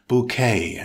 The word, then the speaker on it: bouquet: and then all bouquet it's a noun with two syllables stress the second syllable it's pronounced bouquet as in french with a silent t bouquet definition an arrangement